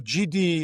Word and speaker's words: Gidi: A lot of people don't know if it's Gidi or GD, etc. So it comes from Gideon, right?